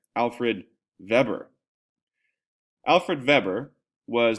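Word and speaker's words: Alfred Weber: Now, in Germany, the W is pronounced V and therefore the V is that pronounced W?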